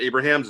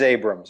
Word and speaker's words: Abrahams: And it is Abrams, right? You know, it's not Abrahams, it's Abrams. It is Abrams. It's spelled cool. Abrahams, but it's pronounced Abrams. Yeah, and I say it